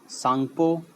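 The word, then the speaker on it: Tsangpo: यहाँ से ये ब्रह्मपुत्र ऑरिजिनेट होती है और इसे हम तिब्बत में सांगपो, टी साइलेंट है मेनली, टी सांगपो एंड दिहांग अरुणाचल में है जो कि इंडिया के नॉर्थ ईस्ट में है।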